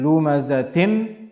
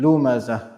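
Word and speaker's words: لمزة: So instead of saying waylul li kulli humazatil lumazatin, we'll be saying waylul li kulli humazatil lumazah. Humazatil lumazah. And we have to make sure that we are pronouncing or making the sound of ha very clear. The ha, the last ha. Humazatil lumazah. Ha sound has to be there clearly. The second ayah, الَّذِي جَمَعَ مَالًا وَعَدَّدَهُ.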